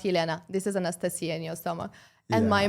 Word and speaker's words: Anastasia: where's the Anastasia actually my name is in Russia yeah it's pronounced Anastasia uh and it was